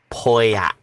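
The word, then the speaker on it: Pauillac: out shoe protector your wine is pronounced poyak just thought i'd let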